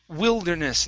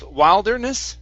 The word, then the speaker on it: wilderness: we have the word Wilderness instead of wilderness it's will Wilderness Wilderness Wilderness okay very nice